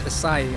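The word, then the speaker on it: açaí: popular so I'm glad I got the pronunciation right it's asai I used to call them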